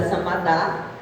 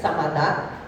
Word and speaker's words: Samadah: Meu nome é Samadá, esqueci de falar porque como meu nome é um pouco diferente, então eu gosto de falar meu nome, a pronúncia, Samadá.